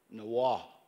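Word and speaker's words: Niwot: it in iowa but there is a arapaho word for for for niawa can somebody help me nawah is the true way to say his name now that was his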